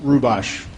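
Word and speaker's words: Hrubash: Rubosh, Okay, Vice spell that President.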